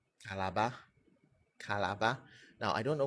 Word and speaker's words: Calabar: That's how it's pronounced. Also, it's Calabar.